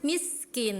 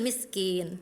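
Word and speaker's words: مِسْكِين: Alaamil miskin harusnya miskin dialirkan karena sin mempunyai sifat rinya mengalir. Tadi kakak cuma ala thaamil miskin tadi tidak mengalir.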